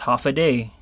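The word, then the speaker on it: Håfa Adai: it's actually it it it looks like this but it's actually pronounced half a day I guess the the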